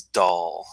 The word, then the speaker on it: Dail: say it first now when you see da il in Scotland it's not Dale it's dull like Ooga doll for example boo boo doll not yoga Dale okay so when you're